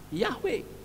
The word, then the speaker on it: Yahweh: demikian kita tahu bahwa penulisan yang benar dan pengucapan yang benar adalah ia W seperti tadi seorang perempuan yang ada Rin bahasa Ibrani dia menyebut nama Yahweh Saudara bukan adonai tanashin memang